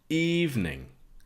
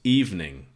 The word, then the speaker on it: evening: Evening. It's really 2 syllables, evening. Not that evening, but evening. Eve, like the Bible story, Adam and Eve.